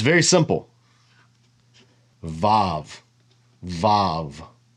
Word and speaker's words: vav: you can say it most modern Hebrew speakers say VAV and ancient Hebrew it was pronounced wow so it's either a v